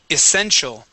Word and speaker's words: essential: there you go okay this word here is essential essential okay so this T here is going to be a CH sound essential essential good one